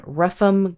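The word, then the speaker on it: Rougham: in ruffam green and that's spelled ruff like r o u g h not like the dog sound ruff like r o u g h a m you know when there's like a ham at the end of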